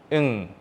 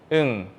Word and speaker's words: 응: But if this 이응 appears on the bottom of a syllable, the sound is changed to ng sound, 응 sound.